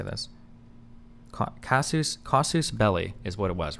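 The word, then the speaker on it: casus belli: Um, Kasus belly. Why do I keep forgetting how to say this? Casus. Kasus belly is what it was, right?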